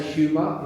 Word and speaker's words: humor: How might we say humor in Spanish? Silent H like in a I should have mentioned that. So humor just like no favor.